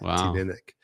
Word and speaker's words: Tanyard: And Tanyard, what is that how it's pronounced? Tanyard.